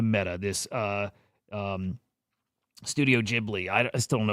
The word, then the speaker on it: Ghibli: I think it's Jibli.